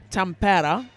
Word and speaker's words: Tampere: 38 points to, as we've just discovered, the correctly pronounced Tampere, Rollin Bros, and 72 points to Power of Scotland, who now, God blimey, are down to 9 players.